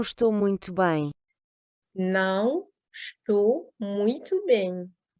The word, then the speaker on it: muito: va se prononcer O, muito, donc le U qui se prononce OU et le O final qui se prononce également OU, et bem qui se prononce de façon nasale.